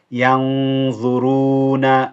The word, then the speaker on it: ينظرون: ينظرون. So it's the gunna is heavy on this in this case.